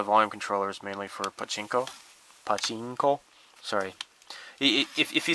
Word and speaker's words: pachinko: But you're supposed to say pachinko, and if you don't say it right, they chuckle.